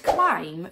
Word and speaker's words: climb: The word climb comes from an Old English word spelt C-L-I-M-B-A-N, in which the letter B would have made a sound.